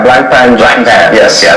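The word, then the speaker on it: Blancpain: Which is a block, how do you say it, block pan? Yeah, Black Pan.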